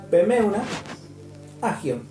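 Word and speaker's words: πνεῦμα ἅγιον: En el idioma griego, el Espíritu Santo usa una palabra que es pneuma hagion. Pneuma hagion quiere decir así. Pneuma hagion.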